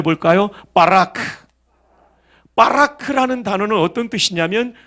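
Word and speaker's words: ברך: 한번 발음해 볼까요? 바라크.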